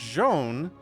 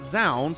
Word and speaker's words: Zoun: their name but like i've heard it told to me pretty effectively that it's joan but then tasteless calls it zound so that's you guys